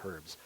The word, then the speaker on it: herbs: I can't say the word herbs. In the United States, they don't pronounce the letter H.